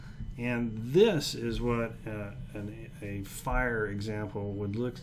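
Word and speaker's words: FHIR: second one second definition is going to be fire and that's the way it's pronounced it's the fast healthcare interoperability resources specification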